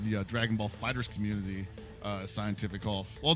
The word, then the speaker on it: CientifiKOF: member, yeah, CientifiKOF. Did you Couple just of pronounce guys, that scientific?